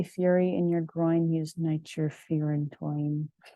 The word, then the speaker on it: nitrofurantoin: And then I liked this saying, if you have a fury in your groin, use nitrofurantoin, which it's pronounced toin, but at the time I did not know that.